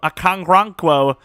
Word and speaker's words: Okoronkwo: Okoronkwo, that's how you say it, 100%.